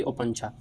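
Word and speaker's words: Opuntia: मिसाल के तौर पर कैक्टस, यूफोरबिया, ओपंचा, ये इसकी प्रोनाउंसिएशन होगी ओपंचा।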